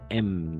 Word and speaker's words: aimes: O sea, A, I, E, y solo vamos a pronunciar hasta la M. Tu aimes, ¿d'accord?